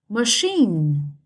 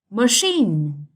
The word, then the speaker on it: machine: Machine. Machine. Straight on the second syllable.